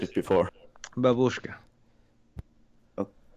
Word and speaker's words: babushka: So Nick, you said babushka before. It's like babushka.